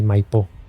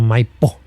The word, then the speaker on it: Maipo: Chile y sí, el cajón del Maipó sin acento en la O. Es un valle bello, precordillerano. Okay. Maipo, no MPO.